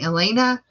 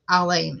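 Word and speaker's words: Alane: unusual name my name a lot of people call me Elena elain alen Elena they call me everything in the book what my right name my name is Alain it's spelled a l a n e everybody calls me all those other things I'm used to being called elain Elena everybody puts an eye in my name I've been called Allan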